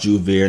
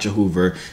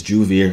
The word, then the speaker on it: Joovier: It's pronounced Joovier, not Jehoover, not the guy from YouTube. It's Joovier, you know what I'm saying?